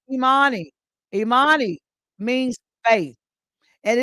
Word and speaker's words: Imani: And then the seventh principle, and it's pronounced Imani.